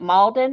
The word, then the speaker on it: Malden: Was it Malden or Molden? How do you say it? Malden. Malden. Yeah.